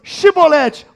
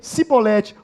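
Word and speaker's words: Chibolete: Não, então diz para mim assim, Shibolete. Aí ele falava, Sibolete. É isso que diz o texto aí, né? E diz ele, pois, Shibolete, porém ele dizia Sibolete, porque não podia pronunciar bem.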